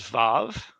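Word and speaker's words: ו: So the next one is vav. Vav. That's the W or V sound. Again, modern pronunciation. It's a V sound.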